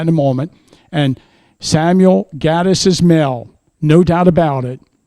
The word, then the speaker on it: Gettys: Every descendant I've spoken with that is related to Samuel and James pronounces it Gettys.